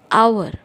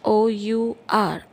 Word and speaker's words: hour: use n for example our h o u r our h is silent over there we do not pronounce